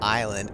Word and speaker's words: island: I mean, true, you don't pronounce the S in island.